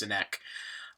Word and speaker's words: Sinek: So the name of the guy that I'm talking about is Simon Sinek. Okay, or I've also heard it pronounced Sinek, but I believe it's pronounced Sinek.